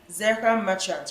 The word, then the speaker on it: Zehra Merchant: Please pronounce it correctly for me. Zehra Merchant, right?